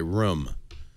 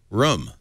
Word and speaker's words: room: Finally, somebody who says room right, by the way, room. That is the right. I blame it on my Canadian heritage. That is the right way to say it.